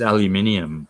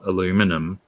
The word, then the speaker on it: aluminium: those you removals but aluminium is aluminium not aluminum you guys are bloody